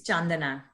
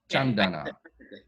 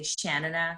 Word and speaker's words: Chandana: It's Chandana. Chandana. Yeah, see, but like many North Americans, some of my cousins included, and my friends from Canada, they just say Shanana because that's just easy.